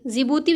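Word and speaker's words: Djibouti: आई से इरिटेरिया और दी से जीभूति जीभूति जो हम लिखने हैं तो उसमें दी साइलेंट राहत है इसलिए सी से याद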